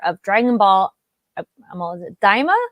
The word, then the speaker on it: Daima: Is it Daima? Daima. Thank you. Yes. If we ever mispronounce things on the show, we're doing it with our best intentions.